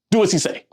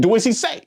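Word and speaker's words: dieciséis: They kind of sound like what I'm saying. Do as he say. Dizzy, as he says. Dizzy, do as he say. Do as he, dizzy, siete. You see what I'm saying? So back to number 16. What? Do as he say? Do as he, dizzy, he says. Okay?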